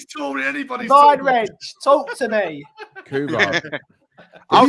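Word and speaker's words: Rensch: It's like Wrench. R-E-N-S-C-H. SCH. It's pronounced like Wrench.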